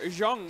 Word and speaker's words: Zang: He's been doing really well to get in Zang right here or Jang as his name is actually pronounced, but Ooh, not a lot of jumping wise.